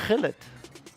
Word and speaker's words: Gullit: More importantly, non-anime reference, what is a Gullit? Oh, well, he says it properly, but from the English broadcast, it is Hullet.